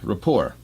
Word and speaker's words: rapport: which you connect connection Rapport it sounds like a French word report Rapport because there's no T you don't pronounce the T at the end right that if it